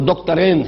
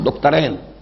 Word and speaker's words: دکترین: ابھی نام لوں گا، وہ دکترین ہیں، میں عربی تلفظ استعمال کر رہا ہوں، دکترین، دو ڈاکٹرز ہیں، لیکن یہ کہ وہ فکر جدید کے حوالے سے کرنے کا کام کیا ہے؟